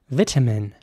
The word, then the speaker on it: vitamin: be pronounced vitamin vitamin with an e sound for the I there at the beginning vitamin and a very strong T sound vitamin in American English the I at the beginning would be pronounced like an I so vitamin and the